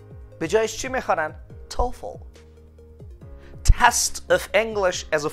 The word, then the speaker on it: TOEFL: شما هیچ فردی رو پیدا نمی کنین تلفظ کنه TOEFL. به جایش چی می خوانن؟ TOEFL.